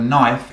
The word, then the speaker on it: knife: I F e now the interesting thing about a knife is that you don't hear the K so it sounds like knife spelt with an N but has a cave before it so k n I